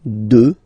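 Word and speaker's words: deux: Final X not pronounced, okay? 2.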